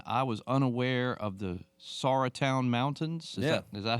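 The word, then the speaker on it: Sauratown: was unaware of the Sara Town mountains yeah is that how it's pronounced that is it yes you that is correct a lot of people say sourtown mountains but the sour Town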